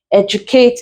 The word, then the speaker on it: educate: If we follow the generalizations given, you find out that modernize is stressed on the first, educate is stressed on the first as well, same thing, emulate still on the first syllable, and then potential, we stress it on the second syllable.